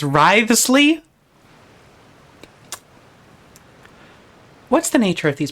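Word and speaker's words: Wriothesley: Okay, I hadn't realized the pronunciation was Writhsley.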